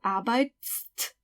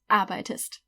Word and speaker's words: arbeitest: You have to add st, but that would make it du arbeitst. So, obviously that doesn't work, you can't pronounce it, arbeitst. So, we'll just add an E. Du arbeitest.